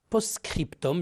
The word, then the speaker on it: postscriptum: ou de politesse signature postscriptum j'ai dit attention à la prononciation scriptom c'est un texte ajouté